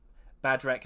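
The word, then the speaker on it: Bhadrek: Badrek Nightmail. Thank you. With an H, B-H-A-D. I try to pronounce it with an H, but it's very difficult to do.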